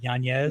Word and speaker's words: Yanez: So like Yanez is not going to be able to notice how I've been pronouncing his name right. Yanez.